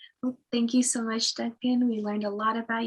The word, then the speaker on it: Duncan: is just my name duncan or duncan in spanish i pronounce my name duncan which is my name